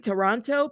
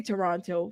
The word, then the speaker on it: Toronto: I keep saying Toronto, but it's Toronto. How do y'all say it? Where are my beautiful Canadians? Is it Toronto or Toronto? Toronto. I say Toronto.